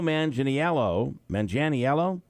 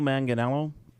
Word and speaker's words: Manganiello: In a video, Mandel passes off his briefcase to a new host, Joe Manganiello.